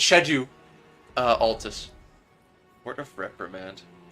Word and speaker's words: Altus: just jumped into Shad shadu Altus that's how you say it by the way Franco I just I just guess knowing you I just guess that you have bad pronunciation it's shadu mhm so just just so you know it's shedu uh Altus